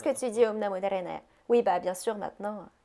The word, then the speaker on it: Narayana: peuvent pas prononcer Narayana comme il faut. No. Nahayana, something like that. Nahanina, quelque chose comme ça.